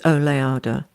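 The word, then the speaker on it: Oleada: I'll put the the it's oada o l e a d a I think oada or it could be pronounced OA I don't know it is oada yeah are you still waiting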